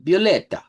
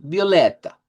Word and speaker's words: violeta: Bueno, ese lo vamos a pronunciar casi como en español. Violeta. Solo vamos a cambiarla al final que sea más al centro. Violeta.